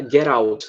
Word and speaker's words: get out: Que muitas vezes o americano fala get out. Né? Eles falam, eles pronunciam tudo misturado.